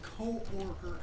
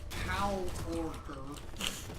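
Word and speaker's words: coworker: and they pronounced co-orker as cow-orker, which I guess is more accurate to how it's spelled, but it wasn't as funny.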